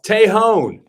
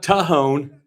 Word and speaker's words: Tejon: It's Tejon. It's not Tejon. It's Tejon. Apparently, we've all been saying it wrong.